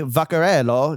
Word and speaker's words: Vaccarello: And it's just like, oh, Saint Laurent, Anthony Vaccarello.